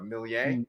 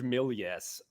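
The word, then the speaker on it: Méliès: director's name correctly though millie millie yeah yeah it is it's french so it is yeah yeah you could do like the the americans george millies or yeah for jorge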